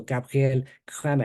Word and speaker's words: Gabriel Cramer: So this has come up before this was named after a Geneva mathematician, so his name is properly pronounced in French. So Gabriel Cramer.